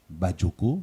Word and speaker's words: Badjoko: Certains parmi vous ont eu du mal à prononcer son nom, Badioko.